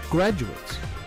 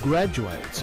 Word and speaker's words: graduate: with all the other graduates someone who graduates is a graduate listen to the difference in pronunciation graduate graduate when he is still studying